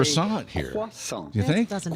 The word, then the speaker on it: croissant: and Gordy just say croissant here. Croissant. You think? doesn't exist. Croissant. Yeah. The T at the end of croissant Okay. is It's gonna be silent.